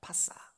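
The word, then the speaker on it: פשה: 이 퍼지다는 파사라는 파사. 원래 발음은 파사 이렇게 발음합니다.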